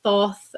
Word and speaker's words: Thoth: whether you're a Marles, a Thoth um or Toth depending on how you pronounce it or a Rideawait Smith